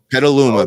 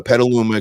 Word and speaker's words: Petaluma: on all the local radio stations how you pronounce that down p p Petaluma Petaluma California is where it all is yeah so